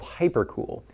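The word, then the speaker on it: HyperKewl: This is made from a material called Hypercool. It's spelled K E W L for some annoying reason.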